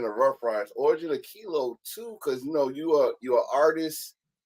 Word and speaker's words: Kelo: If you see the way Kelo is spelled, it's Kelo, not Kilo.